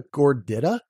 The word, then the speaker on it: gordita: they call it the gordita no why because they intuitively know that I makes the e sound gordita and what are you